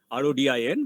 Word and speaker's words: Rodin: Rodha, Rodin, but you say that as Rodha. That's the French name.